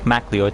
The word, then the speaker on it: MacLeod: Is it MacLeod or MacLeod? It is MacLeod, so I said it right the first time.